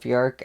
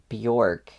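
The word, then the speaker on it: Björk: And I'm trying to pronounce her name right because I think it's not Bork, it's like Bork, more like an I sound, but I could still be saying it wrong.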